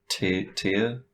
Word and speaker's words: Tyr: And Tyr, that's how you say his name, right?